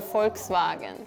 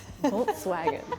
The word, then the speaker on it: Volkswagen: more like that and the V sounds like a w to me so Volkswagen in German it's POR